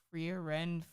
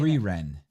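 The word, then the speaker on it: Frieren: think Meek will like Freer Ren Freer Ren how do you say that free Ren free Ren super easy got it now I understand why it's said that way you got to Japanese it got it um I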